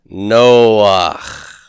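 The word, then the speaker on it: נֹחַ: Noah is Noach. No, that really could be a whole involved. We'll go ahead and put that there. So Noach.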